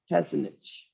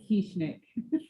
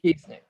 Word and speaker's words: Kieschnick: Warren, you're moving forward, and the next person is, and I'm going to say it wrong, Kesinich. It's Kieschnick. Keesnick.